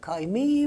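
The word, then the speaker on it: kaime: Hatta kısaca kayme dermiş. Osmanlı halkı kayın olarak da telaffuz ederlermiş.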